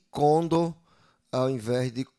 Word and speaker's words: condor: Eh, e conor tá aqui, tá sendo nessa primeira parte aqui, ela tá sendo uma palavra paroxítono, mas na verdade ela é uma palavra oxítona, que a sílaba tônica, né, é a sílaba mais forte é a sílaba do, a última sílaba da palavra, portanto, sendo aí uma palavra eh oxítono ao invés de paroxítona.